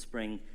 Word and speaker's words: XSpring: or next spring um it's spelt with an x but it's called spring which you're trying to